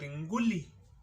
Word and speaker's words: Nguli: Not Ngulu, but Nguli.